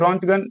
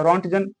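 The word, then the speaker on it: Röntgen: और रॉन्टगन या रॉन्टजन, friends pronunciation change हो सकता है, कहीं कुछ और भी है।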